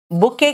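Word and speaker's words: bouquet: से बना के बुके बुके का स्पेलिंग देखो और बोलते हैं बुके लायंस के ग्रुप को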